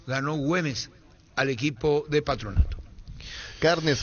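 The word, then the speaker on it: Güemes: Le ganó a Morón Patronato por 1 a0 y perdió ante Atlético Gemes se pronuncia o Gemes. 2 a 1 ganó Hümees al equipo de Patronato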